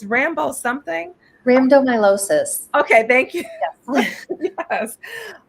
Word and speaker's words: rhabdomyolysis: And so they feel that it's maybe some sort of genetic component, but she, I'm gonna let you pronounce the condition. If you it's Rambo something. Rhabdomyolysis.